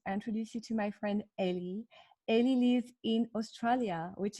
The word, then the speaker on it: Ellie: live good morning ellie do we pronounce ellie or eli what do you prefer oh ellie well my full name